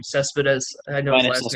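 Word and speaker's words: Céspedes: Cespedes. I know his Linus last name. Cespedes.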